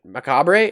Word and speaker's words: macabre: involvement in this creation Macabre how do you pronounce that again with pleasure macabre well I was not even close every time that word comes up I just forget macabre Macabre like Colonel Cobb yeah the wax Professor